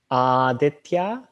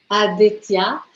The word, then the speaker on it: Aditya: Oui, donc mon nom, ça se prononce Aditya. Est-ce que tu veux le répéter? Aditya? Aditya.